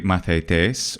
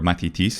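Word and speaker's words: μαθητής: So like a mathetes, or mathitis in modern Greek pronunciation, is a student in ancient Greek.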